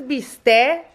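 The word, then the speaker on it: bistec: four pounds of beef this is beast a that's how you say it in Spanish it's like in milanesa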